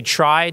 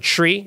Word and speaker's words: trie: actually you pronounce it tree it comes from retrieval uh which in English is RT r i v l so Ed invented the tree an extremely important data